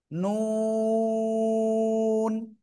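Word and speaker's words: ن: এই যে ভিতরে একটা নোক্তা, জিব্বার আগা, এই যে এই যে। তারপর আবার উপরে তালুর সাথে লাগাবো, দাঁতের গোড়ায় না কিন্তু, উপরে তালুর সাথে লাগিয়ে আমরা উচ্চারণ করব। নুন। 4 আলিফ, 2 ঠোঁট গোল হবে।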